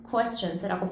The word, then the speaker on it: questions: 조금 의도적으로 냈었던 단어는 questions라고 해서 우리 쾌 아니고 쿠에 questions라고 발음해줘야 되는 부분이 있었고 그 다음에 하나, 두 개 정도가 눈에 띄는 게 additionally라는 단어예요.